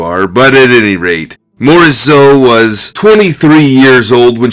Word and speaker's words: Berthe Morisot: of her time was ber the morat or as they would say in French Bert moreso but I'm not French so I mispronounce it but leave your comments